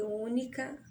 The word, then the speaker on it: única: Percebam que única é acentuada na antepenúltima sílaba.